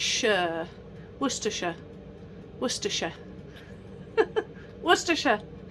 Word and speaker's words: Worcestershire: Worcestershire. Worcestershire. Worcestershire. It's not Worcestershire, okay? Worcestershire.